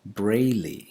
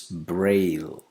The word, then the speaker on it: Braille: You know what it means, but it's not Braille, it's Braille, Braille. We don't have to affix an extra vowel sound at the end of this word.